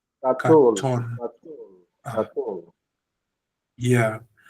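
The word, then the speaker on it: קָטֹן: It's got the O sound, cholem, on top. What is it? It's pronounced O. So the word is katon. Katon.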